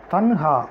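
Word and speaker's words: تنہا: தன்ஹா அப்படின்னா தனுஹா அப்படிங்கிற மாதிரி அதை இன்னுன்னு சொல்லாமல் நூன்னு சொல்லாமல் ஒரு நடுத்தர உச்சரிப்பில் அதை உச்சரிப்பாங்க தனுஹா அப்படின்னு.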